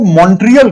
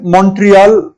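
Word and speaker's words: Montreal: अच्छा, हम लोग अक्सर इसको मॉन्ट्रियल कहते हैं, लेकिन एक्चुअली जो है मॉन्ट्रियल इसको प्रोनाउंस करते हैं। तो अगर आप कर सके तो इसको ऐसे ही प्रोनाउंस कीजिएगा, मॉन्ट्रियल कहिएगा, मॉन्ट्रियल नहीं कहा, ठीक है।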